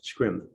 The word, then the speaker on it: scrim: scream or scream i'm not quite sure the pronunciation of it scripts s-r-s-e-r-e-m scrim okay um and i believe you mentioned that